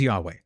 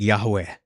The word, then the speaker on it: Yahweh: Um, uh, but it was probably pronounced. I'm Jewish ethnically. I'm not kidding. I am ethnically Jewish, but like not observant. It was Yahweh. It was probably pronounced like Yahweh or something. Jehovah is something else that people suggest, but it probably wasn't Jehovah. It was probably Yahweh.